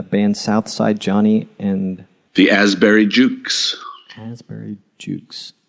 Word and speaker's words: Asbury: The Asbury Jukes. Asbury Jukes. Is that Asbury spelled like Ashbury? Is that in reference to the park? Yeah, well, it's Asbury Park, so no H, A-S-B-U-R-Y.